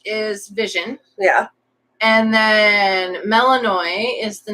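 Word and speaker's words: Melinoë: of events that happened, Melanoi, that's how I'm choosing to pronounce it, and it's very specific on how the spelling is supposed to be. Melinoe with the 2 dots over the E.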